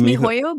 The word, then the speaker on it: MiHoYo: Genshin Impact is an action role-playing game developed and published by MiHoYo. Is that how you pronounce it? Yes, it's MiHoYo, but it actually is now HoYoverse.